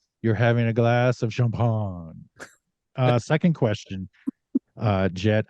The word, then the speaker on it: Champaign: if we refer to it as the champagne Clippers champagne yeah there's a lot of them for this area um in the local vernacular but yeah champagne would be the the correct way to pronounce it no so when you